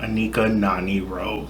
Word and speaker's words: Anika Noni Rose: There will also be no Anika Noni Rose. Did I pronounce? Yeah, Anika Noni Rose.